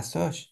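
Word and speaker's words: Sosh: Ah, ça se prononce. Ah, so.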